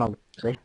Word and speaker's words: Alicia: You're the only one that pronounces their name Alicia, like Militia.